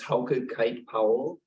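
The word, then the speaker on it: Hauke Kite-Powell: truth of God please state your name and spell it for the record my name is how could kite Powell h-a-u-k-e is the first name k-i-t-e hyphen p-o-w-e-o-l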